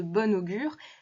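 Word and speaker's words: bon augure: féminin et c'est normal puisque la liaison augure commençant par une voyelle oblige à prononcer bon comme s'il s'agissait du féminin bonne être de bonne augure bien qu'il s'agisse bien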